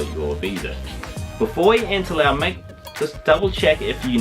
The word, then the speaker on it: Laos: And I said Lao, and it is an S in it, but it's pronounced Lao. S is silent.